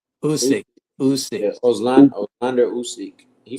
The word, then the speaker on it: Usyk: pronounce it right. Uski. Usyk, Yeah, Usyk.